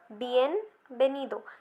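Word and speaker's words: bienvenido: बियन बेनीदो, बियन बेनीदो। जैसा कि मैंने आपको बताया था कि वी जो है वो बी की तरह प्रोनाउंस होता है, तो ऐसा ही बियन बेनीदो।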